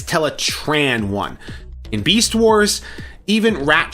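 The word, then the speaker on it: Teletran 1: the role but for primus's sake please just pronounce teletran one right it's not teletron one it's tetran one in Beast Wars even rat trap corrected black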